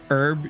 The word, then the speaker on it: herb: Silent letters in English are dumb. Say the H sound in herb, you cowards. In herb or herb?